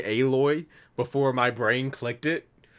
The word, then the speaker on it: Aloy: But do they pronounce her name Aloy in the game and yes, not Alloy? It's Aloy.